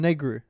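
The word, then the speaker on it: Negru: and the guy's like ah it's Stefan negro yeah like negro yeah what it was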